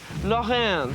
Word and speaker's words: Lorraine: And we're going to start out with the original quiche Lorraine. That's spelled L for lollipop, O-double-R. Julia was over 50. And it's pronounced in the French manner.